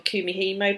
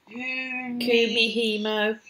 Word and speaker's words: Kumihimo: Kumihimo. No. So not how you spell it, but phonetically it looks exactly as it sounds.